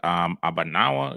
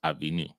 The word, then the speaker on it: Avinu: So that word Abanawa, it'd be pronounced Avinu.